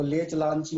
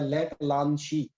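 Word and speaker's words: Leclanché: पे ये कहलाता है, इसको लेच लांची मत पढ़ना, ये होता है लेक लांची। ठीक है, प्रोनाउंसिएशन थोड़ा फ्रेंच रखना।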